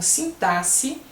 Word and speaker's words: sintaxe: E assim vão os outros também, as outras palavras, como sintaxe, que o X tem som de S, e léxico, que o X tem som de CS.